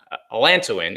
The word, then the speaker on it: allantoin: Margaret says, can allantoin, allantoin is how you say it.